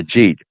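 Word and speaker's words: Agit: Is that how you pronounce his first name? Yeah, Ajit. Yeah. Yeah. I'd call it Ajat.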